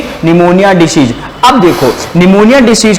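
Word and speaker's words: pneumoniae: Diplococcus निमोनी के द्वारा देखो निमोनिया की जो स्पेलिंग ना पी से स्टार्ट होती है। किससे स्टार्ट होती है? पी से। तो लिखो निमोनी, डिप्लोकोकस निमोनी।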